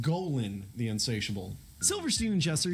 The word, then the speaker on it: Golan: fox cartoon Goan the insatiable Unforgettable it it's pronounced Golan the insatiable Silverstein and jesser shared a lot